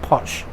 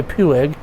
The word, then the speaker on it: Puig: um it was put put out by by the house of punch and it's spelled p-u-i-g some some people say pueg and but according to wikipedia it's pronounced punch